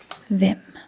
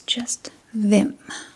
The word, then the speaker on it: hvem: And as you can probably already notice, the H here is silent. We do not pronounce the H at the beginning of the word. So it's just them.